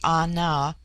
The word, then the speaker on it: Ana: George Buller Litton chapter 10 the word Ana pronounced broadly Ana corresponds with our plural men an the singular